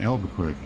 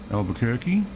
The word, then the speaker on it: Albuquerque: Albuquerque. Yes, I know I said it wrong. Albuquerque.